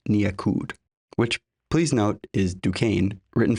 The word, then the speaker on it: Duquesne: Fritz became a well-known figure in Rio during this period under the name Piet Nyakud, which please note is Dukane written phonetically pronounced backwards.